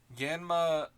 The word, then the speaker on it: Yanma: our boy he's back yanma by the way apparently we've been saying his name wrong the whole time yma it's yanma y a n m a yma yanma they really enunciate it so I wonder